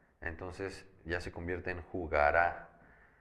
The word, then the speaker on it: jugará: Si esta palabra jugara yo le pongo un acento en la última A, entonces ya se convierte en jugará.